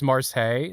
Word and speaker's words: Marseille: Oh, it's Marseilles. That's how you pronounce it.